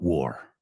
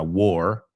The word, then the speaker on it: war: All right, David says, what do you know about war? Hey, vimos la palabra war antes, se pronuncia igual que llevó puesto.